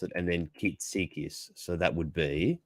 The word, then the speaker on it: Kitsikis: Yeah, as you say it, as you pronounce it, and then Kitsikis. So that would be Kitsikis.